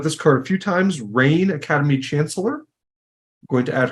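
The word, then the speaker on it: Rayne: I've talked about this card a few times rain Academy Chancellor going to add her to the deck it's spelled r-a-y-n-e she is a legendary Wizard who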